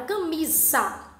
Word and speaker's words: camisa: apenas 1s pêssego tava quando eu pronuncio a palavra camisa esses ar ele não tem o som de s que ele tem um som de z então logo eu vou